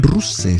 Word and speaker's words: Ruse: Y él nació, Topalo, nació en Ruse. Se escribe con como Rusé, ¿vale?